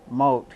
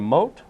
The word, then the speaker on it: Mott: And he pronounces his last name Mott? Well, I'm thinking that's how you pronounce it. M-O-T? M-O-T-T.